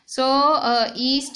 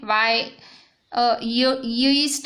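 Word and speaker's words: yeast: Reproduction in ईस्ट बाय बर्डिंग कैसे, तो देखो ये ईस्ट सेल है, ईस्ट सेल ऐसे दिखता है, वाई ईस्ट नहीं, ईस्ट वाई साइलेंट है, ये ईस्ट सेल है और ये सिंगल सेल है, एकदम सिंगल सेल।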